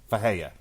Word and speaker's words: Ferreira: For the record, why Mark is struggling with this, his last name is spelled Ferreira, but he is Brazilian, and in Brazil, most R's, in Portuguese, most R's are pronounced like H's.